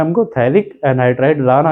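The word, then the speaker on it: phthalic: यहां पे P silent होता है। कई बच्चे गलती करते हैं। तो आप थोड़ा ध्यान से पढ़िएगा कि जो थैलिक एसिड होता है वहां पे पी साइलेंट होता है। बाकी आगे से उसको पढ़ना शुरू किया जाता है। पर लिखा पी जरूर जाता है।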